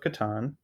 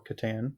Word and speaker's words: Catan: So Josh's answers were Settlers of Catan or Catan, depending on your pronunciation.